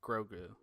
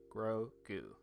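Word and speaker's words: Grogu: is grou sorry I was spell I was pronouncing wrong grou Gro goo um oh Boston sports cards he said his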